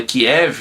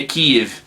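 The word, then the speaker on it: Kyiv: No Brasil todo mundo fala Kiev, né? Mas a pronúncia certa aí é Kiev.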